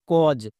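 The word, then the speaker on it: cause: ও কো এস এর জন্য বর্গীয় জো তাহলে উচ্চারণ কি হলো কজ একই রকম ভাবে পি এ ইউ এস ই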